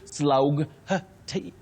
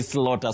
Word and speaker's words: slaughter: the word slaughter Jackie if you think of slaughter would you say slug t would you say that no no no no it's you simply say slaughter so English has even